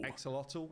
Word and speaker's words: Axolotl: And then we've got a concept in here for Exolotl, I think is how you say it.